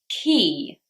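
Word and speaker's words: quay: 76, classically very difficult word to pronounce, key. Key. Same pronunciation as the key to the door.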